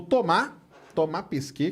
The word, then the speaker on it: Thomas Pesquet: O Thomas Pesquet, que é o jeito certo de falar, francês, né?